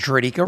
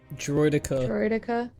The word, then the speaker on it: droideka: what did i do you pronounced dradika wrong how do you so how do you pronounce draedika wrong droideka i mean if it